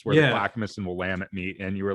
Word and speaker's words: Willamette: But somebody comes around and they're like, Willamette River, is that the one I need to go fish at? It's like, oh, you mean the Willamette? They're like, that's how you say it.